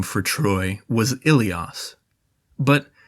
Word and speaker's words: Ilios: Let's just say that one Greek name for Troy was Ilios, but they originally pronounced Ilios with a W, saying it Wilios, not far at all from the Hittite name Welusha.